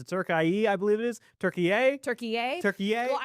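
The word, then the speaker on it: Türkiye: when I learned out that Turkey had changed their pronunciation to Turkie.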